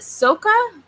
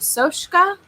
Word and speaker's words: Soska: Sylvia and Jen, is it Soka or is it Soshka? Some kind of foreign name. It's Soska. I can never pronounce it correctly.